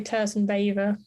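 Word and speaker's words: Tursynbayeva: Is that how you pronounce her name? Yeah, I'd say Turzynbayeva, probably. Turzynbayeva.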